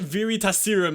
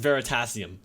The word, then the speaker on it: Veritasium: just happened wait assirram you can't press it very test serum and it's pronounced veritasium Wow yeah oh that's